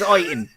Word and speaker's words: Iton: embarrass you, Andy, but I do believe it's pronounced I-Town. Sorry. Oh, Town. Oi, Tom. Roy. Iton. Ooh, I like Iton. Like, Iton. It's Iton.